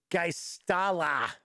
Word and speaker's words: Geistala: So, Cameron say it's Geistala is how it's pronounced.